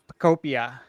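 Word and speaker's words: Pokopia: Okay, next we got Pokemon Pocopia. Is that enunciation correct? I think it's Pocopia. Yeah, I think it's I said Pocopia. I think it's Pocopia. Pocopia, yeah, like Utopia, like so, like Pocopia. Ugh.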